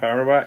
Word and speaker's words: Arawak: Is that how you pronounce it? Yeah, Camp Arawak.